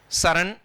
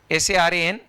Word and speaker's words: Saran: Saran, S-A-R-A-N, S-A-R-E-N. Pronunciation both Saran.